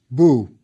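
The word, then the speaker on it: bw: Yes, boo. The foot is the B, and the chick is the U or W.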